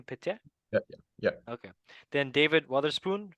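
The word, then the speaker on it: Piette: Pietier?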